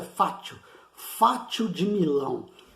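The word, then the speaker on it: fascio: Escrito em português, se pronuncia fátio, fátio de Milão.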